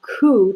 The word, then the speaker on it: coup: he eventually has a coup to overthrow him that word ku you don't pronounce the p but he overthrows the